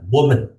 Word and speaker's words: woman: So I want you to pay attention to the pronunciation of the word woman as a Women, singular now. So we say women. woman. Okay, And for women. the plural, we say women. Oh, women. So it's an A, like sit, Okay, sit, women.